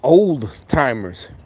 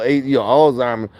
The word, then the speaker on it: Alzheimer's: I thought it was old timers. With an OL, not AL, Alzheimer's.